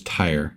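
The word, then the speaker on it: Tyre: Just for the record, it is tire.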